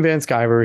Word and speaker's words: Van Sciver: that's awesome absolutely so once again he's Ethan van skyver he is the founder and I said it